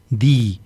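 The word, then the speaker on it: δεῖ: Di se escribe en griego, se escribe la letra D, la letra E y la letra I. Se pronuncia di, es necesario que, es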